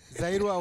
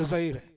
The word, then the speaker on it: Zaire: You said Zairua or something. It's Zaire.